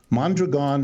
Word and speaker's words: Mondragon: Yeah, well, let me correct you about Mondragon, which is, by the way, how it's pronounced. Mondragon has multiple parts.